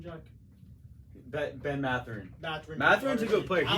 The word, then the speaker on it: Mathurin: Ben Mathurin.